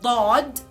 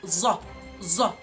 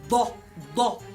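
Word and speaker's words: ضاد: As for the letter Dad, again it is like the letter D, but again with a thickness coming back of your jaw. So it is da, da, da. And it is wrong to say it za, za. There is no za in Arabic.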